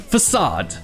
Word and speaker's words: façade: Ici, c'est la même accentuation que le mot critique, façade, critique.